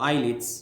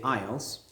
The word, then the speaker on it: IELTS: think about ielts or eyelids maybe people say eyelids but i want you to say ielts that's the pronunciation i i said eyelids